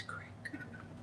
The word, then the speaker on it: creek: How do you say it? It's crick. Butterfly says it's crick.